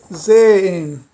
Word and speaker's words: sehen: O H eu não pronunciei aspirado. Como seria sehen, né? Naturalmente se diria, se fosse pronunciado como se pronuncia no início, seria sehen. Mas não é sehen, isso não está correto, é sehen, sehen.